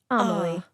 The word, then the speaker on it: Amaly: You said pronounced like Emily, but with an a in the beginning. Amaly.